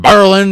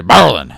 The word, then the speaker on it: Berlin: And I say Berlin because that's how you're supposed to say it. Now, Berlin, Germany, obviously based on that name. But the people where I'm from, they say it like that. They say Berlin.